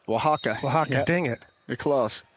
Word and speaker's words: Oaxaca: He has his mission call, Mexico, Oaxaca. Oaxaca. Oaxaca, dang it. You're close. Oaxaca. It's hard for me to say as well. Mexico, Oaxaca, spelled with an O and an X. Very confusing.